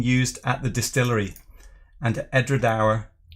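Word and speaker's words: Edradour: And Edredauer, they pronounce it as ending like hour.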